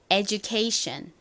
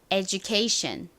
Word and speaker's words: education: 쓰였어요 에이션이랑 연결되니까 요렇게 되죠 같이 읽어 볼게요 education 한 번 더 education 좋습니다 케이션 a 의미는 교육이라는 의미입니다 그래서 교육